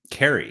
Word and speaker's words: Carey: Oh, Carey. Excuse me. Hard C. I was going to say it, but I was like, you know what? We'll let Kerry mention it. It's a Welsh name.